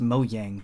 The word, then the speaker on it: Mojang: It's pronounced Mojang, but I like Mojang.